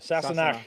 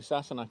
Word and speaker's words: Sassenach: Sassenach.